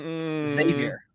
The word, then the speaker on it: Xavier: There's no E, man. It's just Xavier. Like there's no eggs.